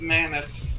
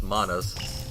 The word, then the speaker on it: Manas: I always pronounce this as Manus. Yeah, it's Manas. Liam, you're wrong.